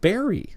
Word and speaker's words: Beery Island: So Richard says, yes, Beery Island is pronounced Berry. Thanks, Richard.